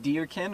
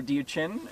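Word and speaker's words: Diuqin: I don't speak um it's spelled di IU q i n and I think it's something like diin or diin um and it's an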